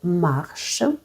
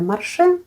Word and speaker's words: Marche: напрямку стосовно самої назви фаб'ян марш скажу декілька слів все-таки правильно вимовляти марш Якщо ви на цінниках бачите марше ну дівчата продавці консультанти які